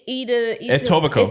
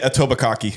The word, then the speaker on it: Etobicoke: it Etobicoke? I'm at college in Etobicoke. Ossington. You know what I Etobicoke. mean? Yeah, I'm staying in Etobicoke. I hear people- foreigners pronounce it Etobikaki.